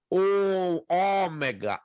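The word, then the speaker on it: ὠμέγα: E ela é longa, ômega, ômega, como em pó.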